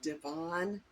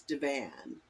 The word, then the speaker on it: divan: Now, I'm from the Midwest, and that's how we pronounced it. Some people will say, I think, divan, um, but I've always known it as divan, like the couch, like the sofa that you sit on.